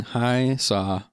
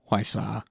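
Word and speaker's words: Hwasa: Track number 7, now featuring Hi Saw, and this is a I believe it's actually pronounced Hwai Sa. I hope that's correct.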